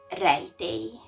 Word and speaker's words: rejtély: This is A and this is E. So it's pronounced rejtély.